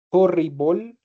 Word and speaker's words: horrible: Todas las palabras que terminan en el e, ¿cierto? En el e se pronuncian como si terminaran en OL. ¿Vale? Entonces, incredible, horrible, terrible. Listo.